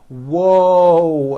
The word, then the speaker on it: whoa: i say that whoa there's a w sound at the beginning of that but there's also a hidden w sound at the end whoa and my mouth is also very forward and tight whoa whoa whoa whoa